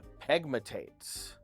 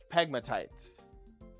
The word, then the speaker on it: pegmatites: Um, crystal barrel usually forms in pegmatates. Okay, it forms in uh or I guess I always pronounce this wrong. It's pronounced pegmatites. Um, but I say pegmatates cuz I'm an idiot.